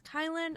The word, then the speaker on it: Kylen: My name is Kylin, otherwise known as Kyle with an N.